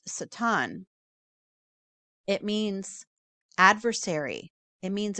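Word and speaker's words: שטן: I believe it's actually pronounced Satan.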